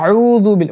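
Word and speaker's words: أعوذ بالله: আউজুবিল্লাহি মিনাশ শাইতানির রাজিম অনেক ভালো হুজুরকে আমি এই আউজুবিল্লাহ পড়তে ভুল করতে দেখেছি তারা বলে আপনারা খেয়াল করে দেখবেন পড়ার সময় ইয়া আউজুবিল মানে উচ্চারণ করতে গিয়ে এতটাই উচ্চারণ করে ফেলায় যে লাহানের জলি হয়ে যায় ভুল হয়ে যায় এইজন্য হামজা জবর আনা তো আউজু আউজু আউজুবিল্লাহি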